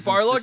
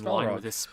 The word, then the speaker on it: Barlog: Is it Barlog? I'm sorry, I've been saying his name wrong. Shit, I thought it was Balrog.